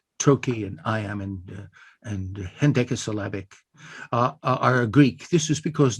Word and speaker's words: hendecasyllabic: Hen is the first syllable, H-E-N. It's Greek for one. Deca, D-E-C-A, is the next unit. That means 10, 1 and 10. And then syllabic, hen decasyllabic.